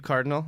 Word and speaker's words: Kardynal: is plug go well my name is Steve Cardinal that's pron that's spelled k a r r d y n l yeah that's weird so